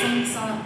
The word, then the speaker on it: samsara: So sanssara if you actually look at it the correct way of pronouncing it is samsara sanssara s what and